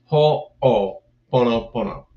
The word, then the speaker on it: Ho'oponopono: It was a 2-hour class called Beyond Forgiveness, more than day Ho'oponopono. But first part of it, of course, first part of that class was to teach people how to say it. Ho'oponopono.